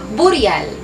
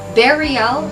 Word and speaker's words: burial: 'Di ba karaniwan bigkas natin sa salitang ito ay burial. Kung ano bigkas siyang sulat, burial. So balit malingmali ang tamang bigas sa salitang ito ay varal. Varial o kaya naman berry. Berial ory na ang kahulugan ay